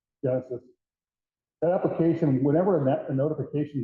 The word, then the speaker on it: Genasys: The Genesis app, if you haven't seen it, it's spelled a little differently, GENASYS, Genesis.